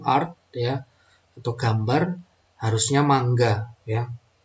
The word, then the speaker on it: manga: ya atau gambar harusnya mangga ya tulisannya manga Tapi bacanya Mangga saya sengaja ngomongnya mangga